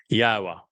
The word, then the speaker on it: Yahowah: Al Benim Yahwa which is the proper pronunciation of the name of our Eloha God